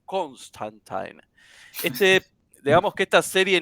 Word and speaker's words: Constantine: dudosa y métodos cuestionables su nombre es John constantin según la pronunciación también del mismo Alan Moore que fue su verdadero creador es era John Constantine este digamos que esta